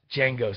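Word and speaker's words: Django: him Unchained uh yes Jango style the D is silent um you are going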